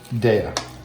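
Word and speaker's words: Daiya: Now, it's actually pronounced... Daya. You had a bunch of people in the comments last time correcting you. Daya cheese. I am standing corrected on, instead of calling it Dila, I think I called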